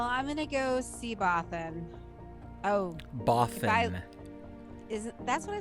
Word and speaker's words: Bothan: No, it sounds like you're saying Boffin, like many Boffin spies died to bring us this information, and that's not right. Oh. It's B-O-F-F Boffin. Oh, Bothan?